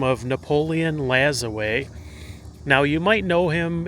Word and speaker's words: Lajoie: as another name because there's a lot of people that are not completely sure how his name is pronounced, but he was a Frenchborn baseball player and his name was um from everything that I've gathered, it's pronounced Lazaway, but he was um